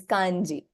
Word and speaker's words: kanji: pronunciation is so different Chinese say hanzi the Japanese have taken all Liberty and change them to the way they understand it best which is Kani so it by no